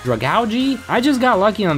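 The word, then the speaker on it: Dragalge: gets taken out with two sludge bombs and Drago which I just learned is supposed to be pronounced drug algae I just got lucky on that one and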